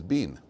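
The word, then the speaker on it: בִּן: There's no yud, but it's pronounced as bin. Yeshua bin Nun, as opposed to Yeshua ben Nun.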